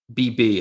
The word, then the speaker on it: Wahab: Qudus Wahab, Whobb is how you want to think of Wahab.